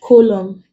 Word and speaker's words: column: like solemn words like column condemn damn awesome in this words the end is not pronounced the N is silent so when letter A